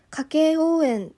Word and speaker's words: 家計応援: これは家計応援と読みます。